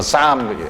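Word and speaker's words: Psalm: 여기 시편 영어로는 이게 P가 묵음이에요. 그래서 쌈, L도 묵음이 쌈이라고 그래, 쌈.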